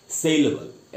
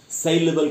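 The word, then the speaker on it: saleable: बोलेंगे डूबल बोलेंगे एक और वर्ड बताता हूं सेलेबल एस ए एल ई ए बी एल ई सेलेबल का मतलब जिसको बेचा जा सके जो बेचने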